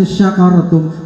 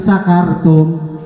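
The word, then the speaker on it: شكرتم: Kalau kamu bersyukur, la in syakartum pakai sin gede. Kalau kita bacanya la in sakartum, apa tuh artinya? Sakaro. Ini sebetulnya mah ada Ustadz Kiai Haji Sabit ini di sini. Beliau lebih mafhum itu. Kalau syakaro itu syukur pakai sin gede ya Ustadz ya. Tetapi ketika dibaca sin kecil, sakaro, itu mabok.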